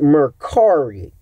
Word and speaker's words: Mercari: allow me to sell t-shirts, which is I pronounce it Mercari.